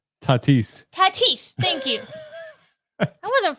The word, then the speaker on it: Tatis: that name how do you say that name tatis tatis thank you that wasn't far I forget what I said I thought you said Titus I don't know what I said yeah I